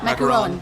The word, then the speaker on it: macaron: Macaron.